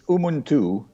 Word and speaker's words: Umuntu: You're the school or the Umuntu Microfinance? Is that what it is, Mr. Sibaud? It's Umuntu. It's a word from the local language, Chichewa.